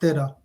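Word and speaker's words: ਤੇਰਾ: The number 13 in Punjabi is it's pronounced Tera, which also means yours.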